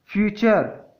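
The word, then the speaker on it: future: तो जब भी टी के बाद UR आए तो टी का उच्चारण च हो जाता है। उदाहरण से समझते हैं। कैप्चर, कैप्चर मीन्स होता है पकड़ना। फ्यूचर, भविष्य।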